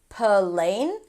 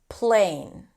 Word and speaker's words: plane: For example, plane. It's not plain plane or for example text.